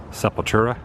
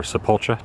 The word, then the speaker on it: Sepultura: for the first time Sepultura or sepulcha depending on how you pronounce it in here as well